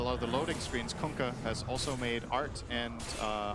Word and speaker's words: Kunkka: That's how you pronounce it. You're welcome. Kunkka. Kunkka.